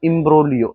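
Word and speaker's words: imbroglio: इम्ब्रोग्लियो, इम्ब्रोग्लियो, इसमें जी साइलेंट है। क्या? इम्ब्रोलियो, इम्ब्रोलियो का मतलब क्या होता है?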